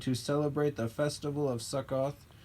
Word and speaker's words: Sukkot: up to celebrate the festival of there's not Sukkoth sorry saccade s ukk OT i mispronounced it earlier this is the punishment of